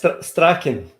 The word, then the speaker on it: Strachan: Is it correct, the pronunciation, I guess? And, yes, Strachan, but the university pronounced Strathclyde perfect.